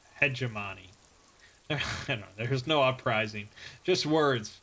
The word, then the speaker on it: hegemony: hegemon peg of PEG a minute hegemony that's not how it's pronounced hegemony there's no uprising just